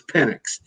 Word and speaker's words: Penix: So they get into the offseason, and Penix, I think the proper pronunciation I'm being told is Penix. And I met with Jeff